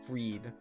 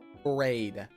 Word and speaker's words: Phreid: The most common pronunciation is Phreid. People call me Phreid, but my name is Phreid. Like afraid knot, or afraid rope, afraid end, or you know, afraid. Like I'm afraid, or a freight train, but with a D. Afraid train.